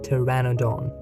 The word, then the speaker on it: Pteranodon: Notice how P is silent in Pteranodon.